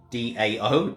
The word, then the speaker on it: Tao: taoist way the dao spelt t-a-o but pronounced d-a-o dao tau is the